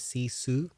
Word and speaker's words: sisu: So it's pronounced as sisu.